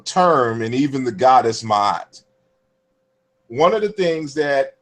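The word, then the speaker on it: Ma'at: made the argument that when we say mahat that at least historically fundamentally it was not pronounced ma because we put two a's in between the consonants m as in Mary and t as in ter.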